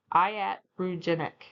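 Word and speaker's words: iatrogenic: Let's start with pronunciation because this one trips everyone up. Iatroenic.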